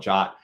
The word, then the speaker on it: JWT: signed GWT or I it's technically pronounced jot but that's confusing to everybody I'll call it jot uh you can pass